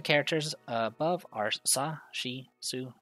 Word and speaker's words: す: す This is su or su. Pronounce it as su, like in the word soon. す The first stroke consists of a horizontal top line and the line curving down.